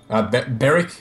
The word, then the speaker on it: Berwick: in Victoria called Berwick berck spelled Berwick I suppose there are there are instances where the W is silent but anyways yeah we're